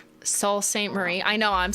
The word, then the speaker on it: Sault Ste. Marie: It's Sault Ste. Marie. But why? Like, that's not how it's spelled.